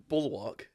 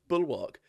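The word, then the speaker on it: bulwark: after being bitter rival it's it's the first bullwark bullwark is how you pronounce that word the first bullwark it's the first bullock against yeah well no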